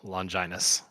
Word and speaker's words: Longinus: For what it's worth, just went back to the episode, and Fuyutsuki does pronounce it Longinus.